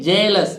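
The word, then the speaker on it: jealous: Arni journey इसी तरह जेलस ठीक है रियस नहीं जेलस जेलस माने ईर्ष तो जे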